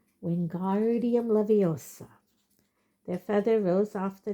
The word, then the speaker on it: Wingardium Leviosa: Wingardium Leviosa, he shouted, waving his long arms like a windmill. You're saying it wrong. Harry heard Hermione snap. It's Wingardium Leviosa. Make the gar nice and long.